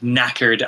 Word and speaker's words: knackered: the uk we have that silent k word knackered i think it's a